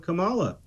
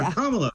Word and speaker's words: Kamala: deep fake video with Kamala or kamla I can't believe I said her name wrong with kamla Harris uh where she's